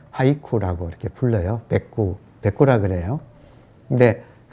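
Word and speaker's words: 俳句: 그래서 그 시조에서 마지막 종장만 딱 뗀 거를 일본에서는 백구라고, 그리고 일본 발음으로는 하이쿠라고 이렇게 불러요.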